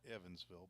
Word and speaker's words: Evansville: I guess there's a chance they call that Evansville, but it's spelled like even, E-V-E-N.